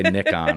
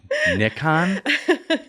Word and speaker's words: Nikon: about it because she didn't say nickon or something weird like that do you people people pronounce Nikon wrong it's weird I'm like Nikon you're not from Europe